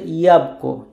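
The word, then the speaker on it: jabłko: সো শব্দের হচ্ছে ইয়াবকো, ইয়াবকো মানে হচ্ছে অ্যাপল।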